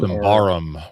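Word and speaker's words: Symbaroum: They also just finished um a Kickstarter for a second edition of I don't know how you pronounce it. Symborium. Simbarum which is also super fun which I did back.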